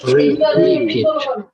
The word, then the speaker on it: repeat: সো রিপিটিং and explaining, রিপিট উচ্চারণ করার সময় আমাদের বেশিরভাগ মানুষই ভুলটা করি, সেটা কি বলতে পারবেন? আমরা অনেক সময় বলি রিপিট, কিন্তু রিপিট না, উচ্চারণ হবে কি বলেন তো? রিপিট। Repeat. রিপিট উচ্চারণ হবে রিপিট, একটা টান আছে।